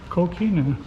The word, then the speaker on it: coquina: It rhymes with shmoshina. Coquina.